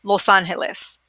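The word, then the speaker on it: Los Ángeles: Remember we talked about earlier too in class that we combine these two sounds, all right? So we don't separate it. We don't say los and then Angeles. We pretend like it's all one word, and we really what we're doing is that, okay?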